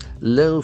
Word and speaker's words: low: So this is this has got a diff thong called o sound low low low